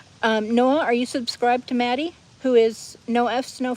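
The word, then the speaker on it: Mattie: Noah says, hold on, who's Maddie? M-A-T-T-I-E. I know I pronounce it with a northern accent.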